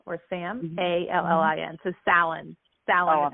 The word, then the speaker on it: Sallin: S-A-L-I-M? No. Salim. So Sallin. It's S as in Sally or Sam, A-L-L-I-N. So Sallin. Sallin is how you pronounce it.